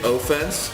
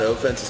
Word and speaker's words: offense: So the one thing that's been getting to me is they say offense, right? It's not offense, it's offense. So if you split it up into 2 words, O-F-F is pronounced off.